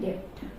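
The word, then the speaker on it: debt: Next term बहुत ही important term है, बैड डेब्ट। यहाँ भी डी जो है वो साइलेंट रहेगा।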